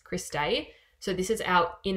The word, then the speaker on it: cristae: bit so this is the Chris day sorry spelled like this Chris day so this is out